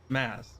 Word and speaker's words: Mads: The D is silent in my name. Maz, sorry.